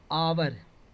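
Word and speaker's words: hour: हैं यहां पर देखिए आवर इसको पढ़ेंगे तो आवर होगा ना तो आवर होगा तो आ ई वाला उच्चारण आ रहा है तो इसमें एन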